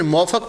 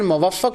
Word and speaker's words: मुवफक: जिनको हम अली बिन मोफक पढ़ते हैं ना, यह मूफक पढ़ते हैं। कभी उनको मूफक पढ़ते हैं, कभी मोफक पढ़ते हैं। असल में उसकी प्रोनाउंसिएशन मुवफक होती है। लेकिन मोफक भी ठीक है, मूफक भी ठीक है।